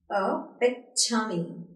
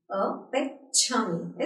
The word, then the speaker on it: epitome: इसकी प्रोनाउंसिएशन होगी अपिच्छामी. अपिच्छामी. Its pronunciation is अपिच्छामी. अपिच्छामी.